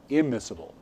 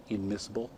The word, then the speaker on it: immiscible: And you understand that when it should be IN, but they change it to an M when it starts with an M. Because ever tried to pronounce NM together? Immiscible.